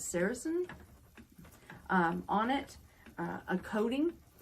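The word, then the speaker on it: sericin: um some of the I believe the pronunciation is saracen um on it a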